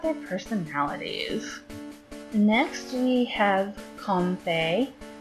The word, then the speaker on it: Comfey: Next we have Comfey. I'm pronouncing it that way because Fae is a type of fairy, and it's comfy, I suppose.